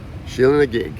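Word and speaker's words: Sheela na gig: got very excited so that's pronounced sheila nag sheila and a gig yeah do you want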